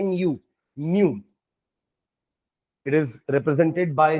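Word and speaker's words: ν: Symbol ऐसा और इसको प्रोनाउंस करते हैं nu न्यू।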